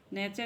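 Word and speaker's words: nature: यदि शब्द में एस के बाद टी आई ओ एन आए या टी के बाद यू आर ई आए तो टी का उच्चारण च होता है।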